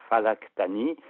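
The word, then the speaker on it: Flegetanis: encore pire par exemple le fameux flégetanis de tout à l'heure en arabe ça se prononce falctani et falctani en arabe c'est la planète Mercure et la planète Mercure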